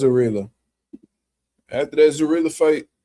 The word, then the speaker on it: Abdullaev: I think I said his name. I I don't know. I probably said it right. No, I ain't say his name right. I said that last time and I was wrong. Uh let me see. Who is that dude name? Yeah, it was Abdullaev.